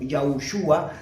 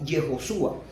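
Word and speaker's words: יהושע: Eh, y eso lo colocaron como yejo, por ejemplo, tenemos un ejemplo, no se dice ya como yaushua, sino yejoshua, y este yejo exclusivamente ellos hicieron algo.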